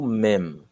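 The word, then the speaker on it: מם: E nós temos a próxima, que é o Mem. Mem. Mem. Veja a pronúncia. Mem. Mem. Mem. Não é me. Não é me. Que nós, na verdade, não pronunciamos o M. Mas no hebraico se pronuncia mem.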